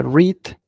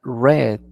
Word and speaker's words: read: un detalle interesante que este se pronuncia read y en pasado se pronuncia red como el color rojo si bien es cierto